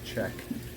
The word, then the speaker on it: Szczech: Last name spelled S-Z-C-Z-E-C-H, but it's pronounced Czech.